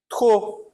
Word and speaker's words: trop: Trop. Trop, também eu não pronuncio o P.